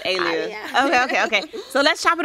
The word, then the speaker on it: Aliyah: Oh, you say it like my grandma. She said, oh, no. With the accent. So it's Aliyah.